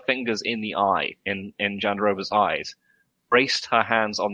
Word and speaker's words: Jandiroba: How do you pronounce the name again? Oh, Virna Jandiroba? Jandiroba, yeah, sorry.